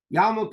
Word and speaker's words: yarmulke: So when you pronounce the word quickly, it's yarmulke, but it's really Yorei Malka, the fear of heaven, And again, ideally, a person should be wearing a yarmulke.